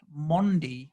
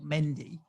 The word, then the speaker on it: Mendy: goalkeeper who i think his name is pronounced mondi not mendy as the commentators keep telling me so thank you [